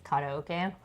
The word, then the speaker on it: karaoke: So, karaoke, but it correct pronunciation is karaoke.